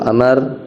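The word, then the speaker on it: عمرو: ya terus Abi Amr Abi Amr bacanya Amar ya karena ada wau kalau waauya enggak ada Umar Wal far Muhammad abdullahbna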